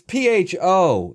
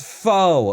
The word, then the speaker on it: pho: It's P-H-O. It's pho, okay? No, it's pho.